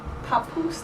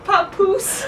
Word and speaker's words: Papoose: hypotheses concern underground facilities at Groom or at Papoose Lake. I'm sorry? That's a lake next to. Is that how you Say it again. Papoose. Wait, how do you spell it? Let me see. Papoose.